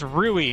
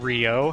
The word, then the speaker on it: Rui: It's Ruie, not Rio.